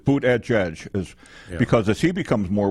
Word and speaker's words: Buttigieg: No, it's Buttigieg, because as he becomes more well-known and continues